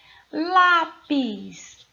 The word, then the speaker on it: lápis: Lápis. Qual é a sílaba tônica? Lá. E lá é a penúltima sílaba, ou seja, a sílaba tônica da palavra lápis está na posição de penúltima sílaba.